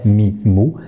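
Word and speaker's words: ميم: Nous ne dirons pas ma, mais nous dirons mais, donc mimou, mimou, très facile. La chose qu'il ne faudra pas oublier lorsqu'on prononce la lettre mim, c'est de la faire accompagner d'un nasillement.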